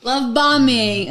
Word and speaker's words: love bombing: you call love bombing love bombing okay no don't make fun you don't pronounce the last B and bomb why do